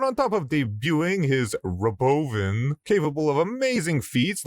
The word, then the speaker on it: Robovan: By the way, did you hear how he's pronouncing it? It's not Robovan, it's Robovan, like a medication for old people.